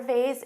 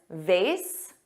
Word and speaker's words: vase: stunning or the flower vase is exquisite exquisite now notice I said vase both pronunciations vase which rhymes with face and vas which has an A but a z sound both are used in